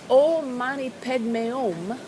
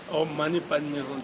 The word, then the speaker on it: Om Mani Padme Hum: And you said it was Om Mani Padme Om. yeah. Om Mani Padme Om. Yeah. Om Mani Padme Hum, there are 6 syllables.